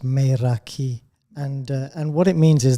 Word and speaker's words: Meraki: I mean, it's a Greek word, and it's pronounced Meraki, and what it means is the essence of yourself.